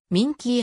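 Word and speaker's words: minke: と思われるなお英語の民家ホエールは minky ホエールと発音するば妙につい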